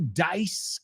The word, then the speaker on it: Dice: And number three, Andrew Dice Clay. Hey, we looked at the word dice before, and we said it's not pronounced like dies.